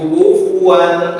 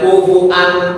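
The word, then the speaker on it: كُفُوًا: Kalau bacanya kufan ahad boleh enggak? Heh. Kalau riwayat hafas enggak boleh. Kalau riwayat yang lain boleh. Riwayat itu kufuan. Bukan kufuan. Jadi wunnya dihamzahkan. Ada lagi riwayatnya kufan ahad.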